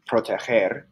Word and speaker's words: proteger: So when we change GER to GO, GER is pronounced ger, as in proteger, but when we add